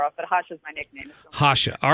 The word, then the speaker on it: Jasha: weren't that far off at hashas my nickname Hacha all right thank you very much for straightening